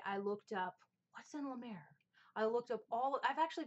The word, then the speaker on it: La Mer: Am I saying it wrong? La Mer? La Mer. It's La Mer.